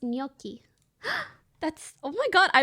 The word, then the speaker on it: gnocchi: the one year louie thanks for subbing it's pronounced gnocchi that's oh my god i wish it was